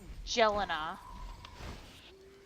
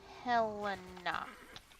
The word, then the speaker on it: Helena: Helena, not Jelena. Helena. Why? Not that hard. Trust me. People say it wrong on purpose, I swear.